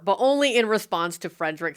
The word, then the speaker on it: Frederick: actually pronounced Igor, but only in response to Frederick saying his last name is pronounced Frankenstein. Frankenstein. You're putting me on. No, it's pronounced Frankenstein. Do you also say Froderick?